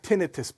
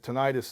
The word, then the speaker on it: tinnitus: as well I have tended to some people pronounce it tinnitus it's actually it's pronounced tinnitus it's a constant ring in the ear I've